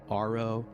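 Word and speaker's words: AARO: Domain Anomaly Resolution Office pronounced ARO which is at least easier to say.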